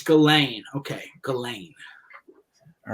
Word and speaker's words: Ghislaine: a weird name i i used to call jizzlane whatever i was calling her too yeah you found it out you know i'm teaching my kid phonics and no it's galen okay galen all right